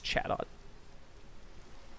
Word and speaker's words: Chatot: It's Chatot.